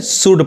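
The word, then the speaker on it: should: इसको शुल्ड नहीं करके शुड पढ़ेंगे, यानी शुड पढ़ाएगा। यहाँ पे इसको कुड पढ़ेंगे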